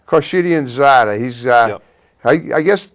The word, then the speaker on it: Khorshidianzadeh: roland how do you say your last name corsidianzada corshidian zada he's uh i i guess my tech matt